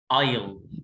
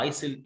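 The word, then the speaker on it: aisle: اللي بعدها ممر يعني ايل، برافو عليك ايل، لو قريتها ايسل ادي نفسك الدرجه غلط، ايسل ده اسم بنت ايل ايل.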